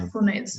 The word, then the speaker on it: resentfulness: In this case, it's going to be a Z sound. Resentfulness.